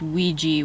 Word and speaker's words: Ouija: I thought it was really interesting that it's pronounced Ouija when there's an A at the end.